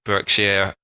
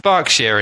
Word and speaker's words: Berkshire: spell things in yeah in America that's pronounced Berkshire as in like Berkeley University but just pronounced bark share in England so now you learned